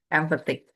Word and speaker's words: empathic: Berarti stresnya di back. Kebanyakan emang kalau belakangnya IC itu stresnya di kedua sebelum IC-nya itu. Empathic. Fanatic. Gitu. Oke, kita lanjut ke skill ya. Empathic.